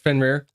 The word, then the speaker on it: Fenrir: Um, it is spelled F E N R I R.